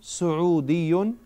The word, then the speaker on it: سعودي: سعودي without the L.